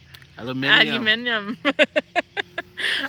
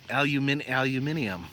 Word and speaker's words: aluminium: Aluminium. I can't even say it right. Aluminium. Yes. Aluminium. I can't even say it now properly myself. I'm saying it American.